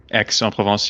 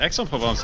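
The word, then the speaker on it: Aix-en-Provence: But for whatever reason, when it's just AIX, it's pronounced X.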